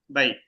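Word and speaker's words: بيت: এটা লিনের হরফ, জবরের পরে ইয়া সাকিন লিনের হরফ হয়েছে। যদি আমি এখানে ওয়াকফ না করি তখন দ্রুত করতে হবে, বাইতি বাইতি বাইতি।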